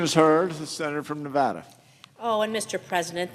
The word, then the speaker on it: Nevada: oh and Mr President thank you so much for saying Nevada properly I urge the rest of my colleagues to learn the proper pronunciation for our great state of Nevada and with that I'm